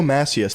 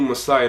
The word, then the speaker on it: Massiah: into this first macias first of all he absolutely butchered my name it's messiah massey okay that's just first of